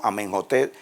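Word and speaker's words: Amenhotep: opep o un holter que lo pronunciamos en inglés intercala en egipto como amen hotep van a ver que la h como la jota no y no en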